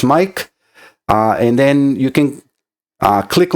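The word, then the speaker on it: Maic: My name is spelled M-A-I-C and sounds as Mike.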